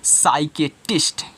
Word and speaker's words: psychiatrist: अब इस यस की बात मत कहना, मैं बोल रहा हूँ कि अगर यस के पहले पी आया है, सॉरी हाँ यस के पहले पी आया है तो इस पी का उच्चारण नहीं करोगे, तो यहाँ से लेके